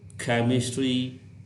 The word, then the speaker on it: chemistry: Next, CH is pronounced as K, as in chemical, chemistry, choreography, chronology, chronic. CH की sound sometime ख